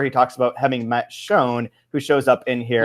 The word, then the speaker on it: Sjón: John, and people would pronounce it S. John, which he did, and then he's like, no, it's Sjón, like the word for vision.